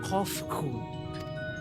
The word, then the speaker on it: Cont'd: As for nomenclature to address my individual person, I believe it would be pronounced Cont'd. Yes, Cont'd of the Ea.